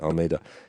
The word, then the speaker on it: Almeida: And I said his name wrong consistently last night. Get out. Did you? Yeah, I did. Almeida. Sorry, Almeida.